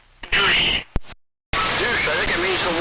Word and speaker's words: douche: No, I looked up the French pronunciation of douche, and in French it's douche. There's no hyphen, there's no schwa, there's no nothing on it. It's just douche.